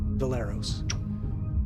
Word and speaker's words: Valeros: I'm going to run up next to Valeros. Okay. Pronounced like Bolero, apparently.